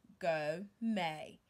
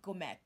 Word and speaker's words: gourmet: Go may. Go may. Not gourmet. It's not gourmet. It's go may.